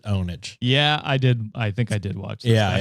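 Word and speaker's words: pwnage: mid 2000s sounds familiar it's spelled pure ponage but I think they pronounced it onage yeah I did I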